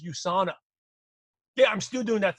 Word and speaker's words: USANA: still doing that us they didn't even know how to pronounce USANA you still doing that us thing I said no excuse me it's USANA yeah I'm still doing